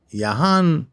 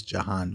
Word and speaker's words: Jahan: And some people pronounce Jan Yahan, especially in Israel, just to make it more easy on the ear, but the name actually is Jan.